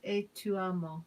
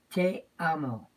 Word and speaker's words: te amo: Okay, in Portuguese, I love you is "e tu amo." E tu amo. Am I saying it right? Te amo.